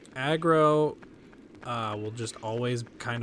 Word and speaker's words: Agro: Yeah, less impeding cuz like aggro uh will just always kind of be where you need to be. Well, that's how the character vocalizes it, but his name is Agro.